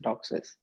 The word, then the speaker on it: DOCSIS: boxes what's up well I pronounce it as dog says seems like DOCSIS is winning so I'll try and use that for the remainder of this